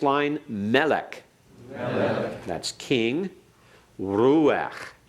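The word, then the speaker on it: רוח: Ruach. Ruach. We had that before, pronouncing it as a single syllable. Remember, it's a PATHACH FURTIVE under the guttural at the end.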